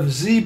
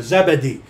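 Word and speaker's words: Zebedee: James and not the son of zeid okay I'll work on that okay not the son of zeed or zebede okay that's a three syllable thing uh not even he's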